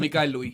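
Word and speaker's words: Mikyle Louis: Yeah, so, Mikhail Louis, that's how you pronounce it? Yeah, Mikhail Louis.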